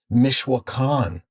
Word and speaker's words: Oaxaca: And it fizzled really quick because I got absorbed into another band, and they were called Mishwakan, which is how we pronounce Oaxaca on Long Island.